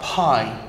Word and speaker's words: pi: And you pronounce it as P-I, pie, or perhaps you want to put an E there, I'm not sure, I'm Dutch, yeah? But pie, anyway, pie, apple pie.